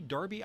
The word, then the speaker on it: Darby: me up on this someone said Ron Darby not Derby How Could You mispronounce his name history Paul you're right